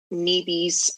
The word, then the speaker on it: Nibi: Okay, so you wrote the book, Nibi's Water Song.